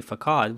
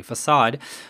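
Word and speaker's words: façade: called as sedilla so this is a kind of French letter C and it's pronounced s instead of C so we don't say fcad we say facade so the facade design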